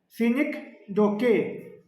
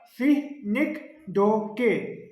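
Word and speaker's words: synecdoche: सीनी डोके, इसको ऐसे प्रोनाउंस करते हैं, याद रखना, सीनिक डोके, ठीक है। फिर से कह रहा हूँ, सीनिक डोके, सीनिक डोके, क्योंकि कई बार आपसे कभी टीचिंग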